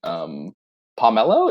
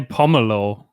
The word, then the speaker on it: pomelo: how we were pronouncing pomelo. Is that right? Is that the right way to say it? I say pomelo. Pomelo. Okay. Yeah. Gotcha. Nice. Good to know. Like pommel.